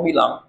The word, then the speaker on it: Balaam: Fallar, o mejor dicho, Balaam está con Balaam se pronuncia como Bilam.